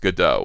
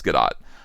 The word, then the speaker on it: Gadot: Well, I think he probably thinks that Gadot is pronounced Godot, and I did too. Gal Gadot, but it's Gadot.